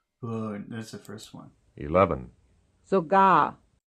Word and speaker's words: sogar: 11, sogar, Sogar. sogar, Second syllable.